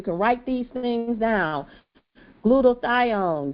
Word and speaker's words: glutathione: So now we've talked about glutathione. How do you say it? I say it right. Glutathione. Glutathione. Glutathione. So just say gluta like gludac say gluda you know gludaion.